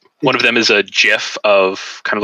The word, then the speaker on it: GIF: It's GIF. I'm calling it GIF. Like it should be. GIF. I am the DM. God says that it is GIF. In this world, it is pronounced GIF.